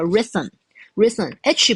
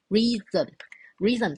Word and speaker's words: rhythm: 困难一点点，念作 rhythm，h 不发音，好，那 y 就发 it 的音，好，所以 re，然后 th 就发 z，好，rhythm 这个字叫做节奏，